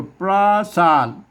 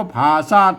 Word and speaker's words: ผาสาท: บ่ ฮู้ ภาษา ล้านนา พวก เรา จะ มา อ่าน ว่า ปราสาท ปราสาท เนี่ย มัน ไม่ ใช่ นะ ครับ มัน ต้อง อ่าน ว่า ผ่า ซาก ผ่า ซาก แล้ว ครับ